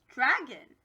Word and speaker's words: dragon: irregular situation right here this usually would be dre but in this word it's going to be dra second syllable gone try for the real word dragon great job my friends